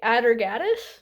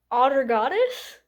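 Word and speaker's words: Atargatis: I want to say Adergat. The Nolla. I was listening to an audio book and they pronounced it as Otter Goddess, which sounds like otter goddess to me, like a goddess of otter, which is very funny.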